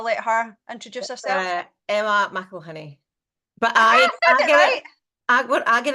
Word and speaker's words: McElhinney: name so I let her introduce us Emma Michel honey but I I I get it wrong so